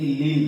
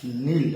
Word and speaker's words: kneel: अतः अब आप कभी ये नहीं कहेंगे कि लील डाउन, आपको कहना है नील डाउन। तो के बाद यदि एन रख दिया जाए तो के साइलेंट हो जाता है।